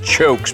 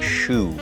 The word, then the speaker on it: choux: from kentucky that's a chokes pastry but it's actually pronounced a shoe and a shoe has